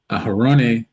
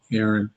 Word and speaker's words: Aaron: Thou and Aaron, or as we modernly call, Aaron, Aaron, um, shall number them by name, by their armies.